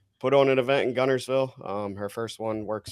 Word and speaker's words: Guntersville: first off can you tell us how you pronounce it so I was born and raised in Gunnersville Alabama and that's where our race is it